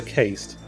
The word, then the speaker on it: caste: I'm pretty sure that's still pronounced cast. That's with an E. I don't think so. I'm nearly 100% sure that is pronounced cast.